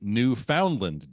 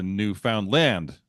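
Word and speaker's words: Newfoundland: no no no no it's a New Foundland dog with emphasis on the last syllable a of course disagreed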